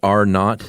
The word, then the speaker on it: R0: And that reproduction number uh they in the in the biz it's pronounced R not.